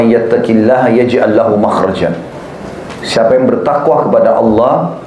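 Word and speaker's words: مخرج: ya bahasa Arabnya itu mim Kha ra Jim bacanya makhraj Kenapa digunakan kalimat itu karena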